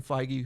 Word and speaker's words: Feige: the it's some Co falls somewhere between Kevin Feige who is kind of the that's how you